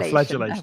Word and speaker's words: flagellation: No, flagellation. I mispronounced it.